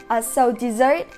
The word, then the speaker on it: desert: But the tricky part is that the verb form of “desert”, having the same spelling, is pronounced dɪˈzɜːrt, just like the word “dessert”. “Desert” as a verb means leaving somebody or leaving a place.